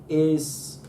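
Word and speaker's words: αι: When alpha and iota come together, that's just I. I. Aye, Captain. Aye.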